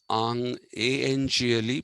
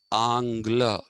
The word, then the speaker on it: Angle: Ang, Anglo comes from A-N-G-L-E. Please don't pronounce this as angle. This is Angla.